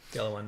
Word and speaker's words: Galwan: I think that's how you pronounce it. Galwan Valley.